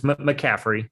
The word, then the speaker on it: McCaffrey: It's McCaffrey, like Christian McCaffrey. McCaffrey, like the football player.